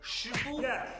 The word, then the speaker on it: shifu: This game should be called Shifu, not Sifu. Sifu, Cantonese, Shifu, Mandarin.